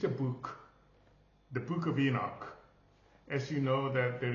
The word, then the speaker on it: Henoki: is Enoch in English, but the name is Henoki, because we have the syllable from the main syllograph ha.